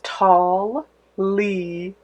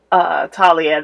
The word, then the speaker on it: Talia: pronouncing my name but it's tall Li Talia the age of silent no my parents did